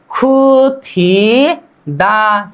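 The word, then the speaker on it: 굳히다: और यहां पर द और ह, ठीक है, द प्लस ह को मिलाकर हमें क्या करना होता है, द प्लस ह मिलाकर थ का उच्चारण करना होता है, था।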